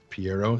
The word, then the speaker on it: Piero: Piero, is that how his name is pronounced? Yes.